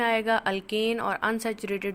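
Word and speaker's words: alkene: इसे थोड़ा सा समराइज करते हुए बेटे, सबसे पहले हाइड्रोकार्बन जिनमें कार्बन और हाइड्रोजन है, जर्नल क्लास के अकॉर्डिंग इसे अल्केन, अल्कीन एंड अल्काइन, pronunciation के ध्यान रखने, अल्केन, अल्कीन ENE और अल्काइन YNE।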